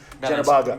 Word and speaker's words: Genobaga: So in order to get it right, I had to spell it JENOH-BAGA, and now it says Calen Genobaga.